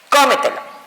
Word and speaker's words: cómetelo: Por ejemplo, la palabra cómetelo. Cómetelo. Esta palabra automáticamente también llevará acento ortográfico porque su posición fuerte recae en la sílaba antes de la antepenúltima. Verificamos. Lo, última, te, penúltima, me, antepenúltima y co, antes de la antepenúltima sílaba.